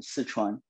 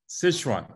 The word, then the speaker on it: Sichuan: gives uh sizon foods szechuan food what's the proper pronunciation there's so many spellings correct the record no we say it in mandarin sichuan sichuan okay got it and